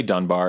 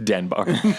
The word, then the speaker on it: Denbar: vic dunbar denbar dun people say dunbar and i have not corrected them but it is vic denbar interesting fact in all